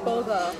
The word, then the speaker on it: bulgur: Bulgur.